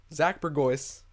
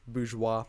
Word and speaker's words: Bourgeois: I'm your host, Burgoyce. Some people find Burgoyce too hard to pronounce, so Bourgeois. Also, Bourgeois. It's just the French pronunciation.